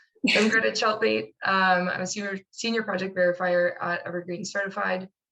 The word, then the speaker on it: Tjeltveit: Yeah, so to clarify, that crazy letters after my name is pronounced Cheltbait. It rhymes with shark bait, if that helps you remember it. So I'm Greta Cheltbait.